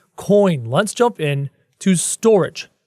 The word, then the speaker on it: Storj: let's jump in to storage it's sto RJ pronounced storage according to the website selling at $2